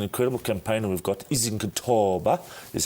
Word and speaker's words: Izokuthoba: It's an incredible campaign, and we've got Izokuthoba is how you pronounce it.